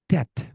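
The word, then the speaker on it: debt: Contoh silent letter B, Teman-teman. Tom. Tom, Tom Tom. Yang kedua, dead. Dead. Dead. Hutang, Teman-teman. Tagihan. Dead. Bukan dep.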